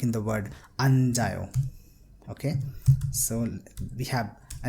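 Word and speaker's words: 앉아요: So we will pronounce it as anjayo. So you see that this chiyat has combined with a and is being pronounced as ja because it's in the middle position. If you remember the Hangul pronunciation rule that we have studied, it's ja, so anjayo.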